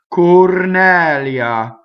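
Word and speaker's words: Cornelia: So it's Cornɛlia. And the IA is a semivowel, right? Sometimes you have words that are nouns that have the accent on the E, bramosia, and that's another non-phonetic thing. You have to memorize the word, whether it's ia or lia in this case, right?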